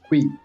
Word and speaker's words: Cully: I think they call it Kui, but it's spelled as Cully.